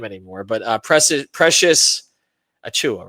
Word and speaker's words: Achiuwa: I thought we were done with him, and now I didn't have to pronounce his name anymore. But Precious Achiuwa, right?